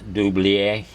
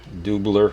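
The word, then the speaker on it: Dubilier: They're all Cornell Doublier, Doubler, however you want to pronounce it. I believe it's a French name, Doublier, Cornell Doublier.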